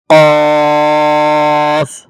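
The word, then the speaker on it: ق: মধ্যে উচ্চারণগত পার্থক্য আছে যেমন এটি হচ্ছে কফ আর এই হরফ হচ্ছে কাফ কফ হরফের মধ্যে একটু ভাঙ্গা আওয়াজ হবে আর কাফ স্পষ্ট হবে তারপর হচ্ছে লাম মিম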